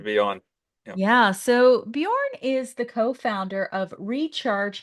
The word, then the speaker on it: Bjorn: His name is Bjorn Ekeberg. I pronounced it right, didn't I, Bjorn?